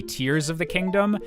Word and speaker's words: Tears of the Kingdom: companies to confirm that the English pronunciation is intended to be Tears of the Kingdom. And I believe before that, people had figured out through how the Japanese was translated that it was also the tears, like literal, like, crying tears.